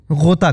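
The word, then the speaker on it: ग़ोता: Urdu word है उसको गोता कहते हैं गोता ग के नीचे नुक्ता बाथरूम को आप लोग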